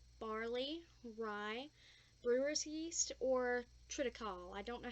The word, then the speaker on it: triticale: Okay, so since I have celiac disease, I can't eat wheat, malt, barley, rye, brewer's yeast, or triticale. I don't know how to pronounce that.